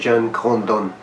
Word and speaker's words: Jean Grondin: trata del libro introducción al hermenéutica filosófica de John hondon se escribe Jan grundin pero se pronuncia John condon y esto está en editorial harder una editorial